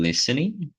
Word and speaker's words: listening: Então, dentro do input, que seria a entrada, a gente tem o listening. Lembra, pessoal, de não falar o D, né? Listening.